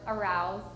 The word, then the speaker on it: arouse: I think it's just the R sound. It's a little bit different. I would say arouse. Arouse. It's really hard with the And the A is also not fully pronounced. It's like like the pirates Oh yeah. I think like changing from the R to the ow. And the OU is like round. Yeah. Not road. Round.